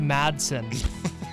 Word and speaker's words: Madson: you're butchering my name that badly Mingo it's pronounced Madson finally from Mingo grant on untoward at Mingo